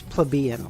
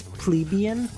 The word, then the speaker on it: plebeian: Okay, that's how you pronounce plebeian. I'm sorry. If you don't like it, if you want to say it's plebeian, then you're a fucking idiot, okay?